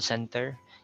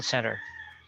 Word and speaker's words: center: to say it correctly you don't say call center you say call center and when you host how do you